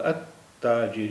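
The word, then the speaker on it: التاجر: बार हो जाती है जैसे अलताज नहीं है ये लाम लाम यहां पर साइलेंट है ला लाम का प्रोनंसिएशन नहीं होगा ते का प्रोनंसिएशन दो बार होगा अता जर यानी एक बार एक बार आधा ता है फिर पूरा ता है अ ताजिर अ ताजिर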